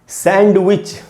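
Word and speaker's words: sandwich: और दोस्तों ये खाने वाली चीज़ सैंडविच, यहाँ पर भी N जो है डी जो है वो एन के बाद है, एन के बाद डी है, यहाँ पर भी डी साइलेंट होगा।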